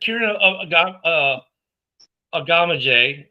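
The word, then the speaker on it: Kiran Amegadjie: Then Kieran Agama is how you say.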